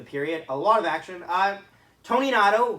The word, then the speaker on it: Toninato: Tony Nato, who I found out that's how you say his name, not Toninato, which is disappointing to me,